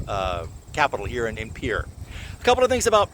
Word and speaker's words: Pierre: Leafra as opposed to Pierre which is pronounced pier with a faulty English accent.